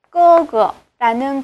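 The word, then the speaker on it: 哥哥: 꺼거라는 그러한 발음을 지니면서 오빠, 형, 이라는 그러한 뜻으로 현재 중국에서 이렇게 쓰이고 있는 그러한 글자가 되겠습니다.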